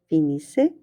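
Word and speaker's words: finissent: Fini, fini, fini, finissons, finissez, finisse. We pronounce the S, but we don't pronounce the ENT.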